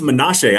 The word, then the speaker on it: Manasseh: out of Western Carolina, Manasseh. I think it's Menashe. I had a homie I went to high school with named Menashe, and it was spelled similar, so I think that's how his name's pronounced.